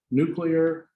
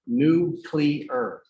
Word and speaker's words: nuclear: So let's close that and done and get out our chapter 9, nuclear magnetic spectroscopy. It's nuclear, not nuclear. The president said it wrong.